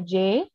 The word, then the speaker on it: Jay: I'm the vice president I go by Jay pronounced J as seen on screen I'm majoring in